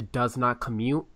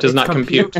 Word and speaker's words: Does Not Compute: a lot is to does not commute I'm probably saying that name wrong compute does not compute I thought it's commute it's compute yeah it doesn't it